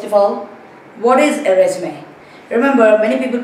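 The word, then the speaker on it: résumé: It's really a French word. And you can see this accent on top of the e.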